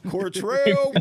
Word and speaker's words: Cortrell: Most people are like Cortrell, they missed the R, but you was right on it. So you've done some practicing. Cortrell is in the building.